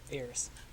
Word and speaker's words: Ayers: Now I say your last name Ayers, right? Ears. Rhymes with pears.